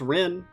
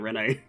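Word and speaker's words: Renne: correctly i don't know why there's an extra n e if it's just pronounced rin but uh whatever but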